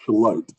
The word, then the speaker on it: Charlotte: It's Charlotte.